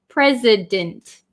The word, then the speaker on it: president: this one is president this c makes an s sound and this s makes a z sound so it's a little